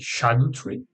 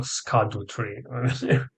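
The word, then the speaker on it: Scadutree: I have exactly the maximum amount of blessings from the shadow tree. Apparently, that's the way it should be pronounced instead of a skadu tree.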